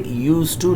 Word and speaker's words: used to: Keep in your mind here D is silent, it is not pronounced. It is written but not pronounced. You will say used to, not used to.